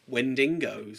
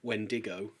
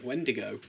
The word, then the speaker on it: Wendigo: Wendigo. Wendigo. Yeah, there's no extra N in there. Is it? I've always said Wendingo. No. Wendigo.